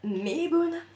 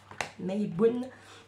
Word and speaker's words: Mabon: Donc ensuite, après Lugnasa, on a Meibun. Meibun. Donc ça s'écrit M-A-B-O-N.